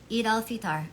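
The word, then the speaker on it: Eid al-Fitr: It's how do you pronounce it? It's Eid al Iftar. Okay. Forgive me for slaughtering it. Eid al Fitar.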